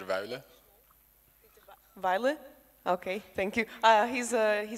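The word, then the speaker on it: Wuille: Okay, so his name is pronounced Peter Weile.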